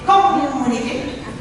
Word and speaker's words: communicate: All right, so you see what happens is we stress the second syllable there, and we're making it longer. So we're saying communicate. La la, and make it higher. Communicate. Make it clear so we don't have a schwa vowel here. Where do we have a schwa vowel in this word? In the first syllable, right? So we don't say com, we say good. Good. We have a clear vowel, mu, and it's long, and it's high.